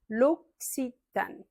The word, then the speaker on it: L'Occitane: L'occitane. Les deux C se prononcent un peu comme un X en fait.